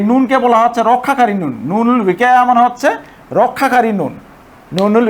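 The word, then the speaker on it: نون الوقاية: নুনুল উইকায়া, এটা অনেকে নুনে বেকায়া বলে, অনেকে এটি নুনে বেকায়া বলে। নুনে বেকায়া আসলে উচ্চারণ হবে নুনুল উইকায়া।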